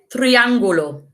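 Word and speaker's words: triángulo: rojo the red circle el triangulo and triangulo okay again quite similar to english triangle triangle el triangulo muy el cuadrado el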